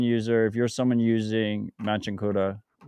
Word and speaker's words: Machankura: So what, like people just on the street when they say let me get paid, they say, how do I pronounce it? Machangura. Machankura.